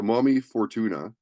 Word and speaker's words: Momy Fortuna: band and is it how do you pronounce the name of the band mommy Fortuna so is Mommy I wasn't sure if it was uh momy or Mommy so mommy Fortuna and so why the